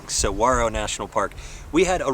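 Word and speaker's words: Saguaro: we enjoyed so much it's Saro National Park I had to learn how to save that cuz I feel like I've been saying it wrong for my entire life yeah I think everybody who has only seen it in print and not heard it said would say this wrong searo National Park we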